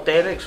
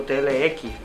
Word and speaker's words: TLX: Se puede pronunciar como Telex o TLX, pero yo creo que